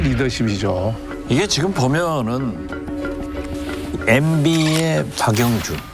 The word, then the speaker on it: 박영준: 이게 지금 보면은 MB의 박영준. 형준이 아니라 박영준. 발음 조심하셔야 됩니다. 영자하고 형자하고 다르지.